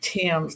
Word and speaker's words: Thames: proud to be here I pronounced my last name Tims like the Tims River in England it's really different and